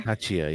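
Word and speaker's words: Tchia: Tachia. You're talking Mhm. about Chia? Yes. I But pronounced the T. The T's there. Tachia, yeah.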